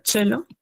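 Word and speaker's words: Cello: Por ejemplo, tenemos la palabra chelo y esa es como la ch en español, ¿no?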